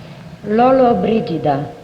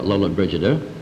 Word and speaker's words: Lollobrigida: All right, #1, how does Gina pronounce her last name? Lollobrigida.